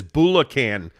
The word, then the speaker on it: Bulacan: Greg also clarified your pronunciation. He said it's Bulacan, Philippines, and that wasn't me, Jake.